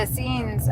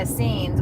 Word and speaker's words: Essenes: So, with the Essenes, um, have you heard of them?